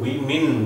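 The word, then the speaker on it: women: ये word वीमेन बोला जाएगा, वीमेन, और W को, होठों को गोल करके बोला जाता है ऐसे, वेट, वी मिन, मिन।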